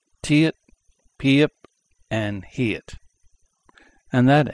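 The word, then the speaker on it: 티읕: And this is the Tiet.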